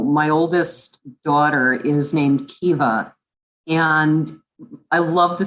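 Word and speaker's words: Caoimhe: because to him it's normal and so it's pronounced kiva it is spelled c-a-o-i-m-h-e and um if our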